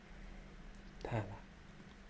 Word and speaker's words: Tala: There's no R's in Tala though, actually. Though it sounds like it, I guess. It's Tala.